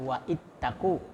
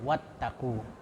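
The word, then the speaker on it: واتقوا: Jadi bacanya wattaqu. Ya, jadi bukan wa ittaqu tapi wattaqu. Jadi langsung dari waw ke ta.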